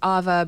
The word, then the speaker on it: Ava: introduce myself a lot because my name is Ava but it's spelled like Ava and so I often get